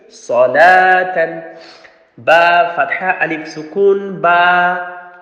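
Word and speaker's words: صلاةً: Remember, it's waw is the extra, it's not salawatan, it's salatan.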